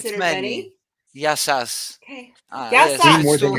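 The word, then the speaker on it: Γεια σας: Yasu if it's if you're talking to one, Yasu to you. But if you're talking to Okay. many, Yasas. But the plural, sas are many.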